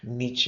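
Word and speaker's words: Nietzsche: Look, it's Friedrich niche is how you pronounce it.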